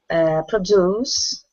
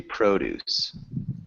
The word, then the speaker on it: produce: This one is actually produce. Produce. And then we also have a word that's produce, which is a verb, and it means to make.